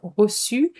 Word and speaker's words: reçu: Recevoir, to receive, but be careful, it's only a two-syllable word, reçu, with a cedilla, and with a sound s, j'ai reçu.